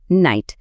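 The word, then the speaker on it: knight: নাইট। এখানে কে লেখা আছে ঠিকই। কিন্তু এর কোন সাউন্ড নেই।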